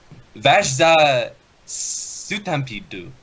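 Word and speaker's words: Vash the Stampede: I also like how the Japanese say his name. He's Vashza Sutampido.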